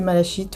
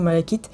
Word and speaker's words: malachite: prononce comme on veut si on veut le prononcer malachite ou Malakite on le prononce comme on veut enfin je trouve que